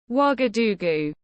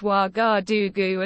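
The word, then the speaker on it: Ouagadougou: the best capital city wagadugu that's pronounced wagadugu as far as I'm aware which is a very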